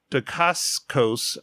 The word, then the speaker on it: Dacascos: Mark Dacascos, I think is how you pronounce it, who plays Zero in John Wick 3, is in Agents of S.H.I.E.L.D.